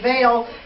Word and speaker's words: Baal: That term Baal, or we talk about, I've heard it said Baal, but I think that the correct pronunciation is Baal.